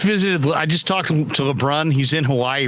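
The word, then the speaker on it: LeBrun: you pronounce his name sounds like LeBron but with his VI I know LeBron LeBron just think of like Pierre LeBron the the hockey writer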